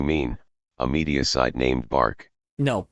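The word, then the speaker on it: Barq: It's called B A R Q. Bark. There we go. Bark.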